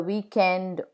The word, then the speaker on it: weekend: The final consonant is pronounced in words borrowed from other languages, like le weekend, snob.